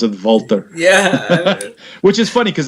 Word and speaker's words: Walter: Walter Walter no it is Walter but they pronounce it voltar yeah which is funny cuz that's how he